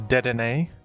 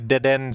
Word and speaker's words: Dedenne: And by the way, before you say anything, I know that the official pronunciation of this Pokemon is Dedenne.